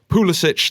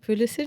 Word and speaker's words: Pulisic: Was this the Christian, and we've had a debate about the pronunciation of this before the show, Pulisic that the Chelsea fans have been waiting for? Is it Pulisic?